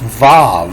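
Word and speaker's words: ו: It's to Vevel, and so this B doesn't have a dot. It's pronounced V, and they use several words for this, but it's Vav. VHV is Vav, and so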